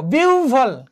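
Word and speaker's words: বিহ্বল: দেখো বিউভল, কি হচ্ছে বিউভল, তাহলে এখানে কি হচ্ছে হয়ের পরিবর্তে এখানে ও এবং বয়ের পরিবর্তে বয়ের যে মহাপ্রাণ সেটি হচ্ছে কি ভ।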